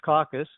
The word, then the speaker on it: CCAC: CCAC, pronounced caucus, is an organization for